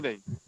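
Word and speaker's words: knee: এরপরে দেখেন নি, কে এন ডাবল ই, কে এর পরে এন এসেছে যার কারণে কে এর উচ্চারণটা হবে না, নি হবে, ঠিক আছে।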